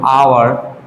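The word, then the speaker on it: hour: কিন্তু যখন আমরা বলবো আওয়ার, অনেস্ট, ঠিক আছে, এই টাইপসে যখন বলবো, যেমন এটা আওয়ার, এটা আ উচ্চারণ হয়েছে, এটা অনেস্ট, এটা অ উচ্চারিত হয়েছে।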